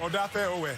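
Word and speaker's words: Odafe Oweh: Odafe Owe.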